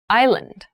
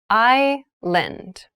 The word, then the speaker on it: island: thailand has many rainforests thailand has many rainforests island island i lend an island is a portion of land or